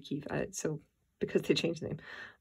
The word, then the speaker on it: Kyiv: And in Ukraine anyway, in Kyiv, if I'm pronouncing that correctly, because it's not Kiev anymore, it's actually Kyiv, so because they changed the name.